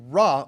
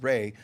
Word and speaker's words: Ra: name like there was a individual called Rah or it's pronounced Ray but RW the son God